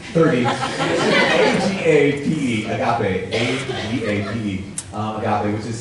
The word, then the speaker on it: agape: Now there's a fourth kind of love, and it's called agape. A-J-E-A. 12, 9, 30, A-G-A-P-E, agape, A-G-A-P-E, agape, which is self-sacrificial love, you might say it like that, or self-emptying love.